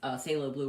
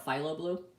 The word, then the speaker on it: Phthalo Blue: I went, okay, I've been saying this color wrong all these time, and it turns out there's 2 ways to pronounce it.